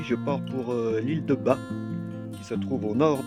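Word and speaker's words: Batz: Alors ça s'écrit Bats, ça se prononce Bas.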